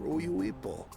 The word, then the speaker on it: Uyuipo: Allow me to show you where to procure Uyuipo. Uyuipo? What? Oh my god, that's how it's pronounced.